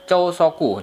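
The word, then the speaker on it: 朝食: Jadi makan kanji pagi asa tabe, jadi bacanya chousoku, jadi sarapan.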